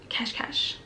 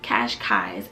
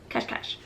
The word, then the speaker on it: Cascais: beach area, and it's Cash, something like that. I think I'm pronouncing it correctly, because when I first saw it, I said Cascais, which is totally wrong. It's like Cash, something like that.